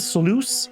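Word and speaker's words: sluice: Uh we have double floodgates, triple floodgates, and uh this is sloo is how that's pronounced.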